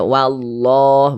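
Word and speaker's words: والله: Jadi cara membacanya itu dari sini, dari wa langsung masuk ke sini. Nah, ke huruf yang memiliki tanda baca ini. Nah, dibaca wallah, begitu.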